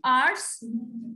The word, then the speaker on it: hours: Now, the first one sentence is, I waited at the station for 5 hours. Again, here, H is silent.